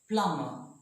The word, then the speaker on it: plumber: middle of the world after M the B is not pronounced we say climber not clamber climber plumber climber plumber remember occasionally so now